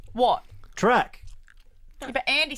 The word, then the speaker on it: Toorak: Track. Yeah, but Andy said track. Guys, No, I do you didn't. have the I just- same point? It's not if you'd call it Toorak. It's called track.